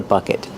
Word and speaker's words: bucket: a bucket and this bucket is empty bucket use the short sound uh like cup and up bucket and then a short vowel uh bucket use a stop te at the end not bucket stop the